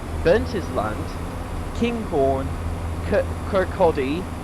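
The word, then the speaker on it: Kirkcaldy: his land King Horn Kodi not Ki Kodi and marage and then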